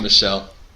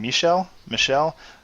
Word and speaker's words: Michel: I have Sony Michel.